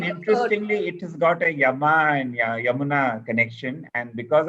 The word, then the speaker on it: Jam: And the word Jam is just the way they pronounced Yam.